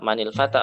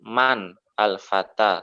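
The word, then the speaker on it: من الفتى: Jadi bacanya adalah manil. Kalau bacanya di eja-eja berarti man al-fata. Tapi kalau digabung manil fata ya ini.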